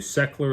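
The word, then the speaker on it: Sechler: now quick plug for the law firm the secular law firm is your family's partner in all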